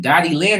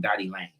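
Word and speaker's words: Dotti Lyne: Is it Dottie Lynn or Dottie Lane? I think I'm saying it wrong. Dottie Lane. My bad.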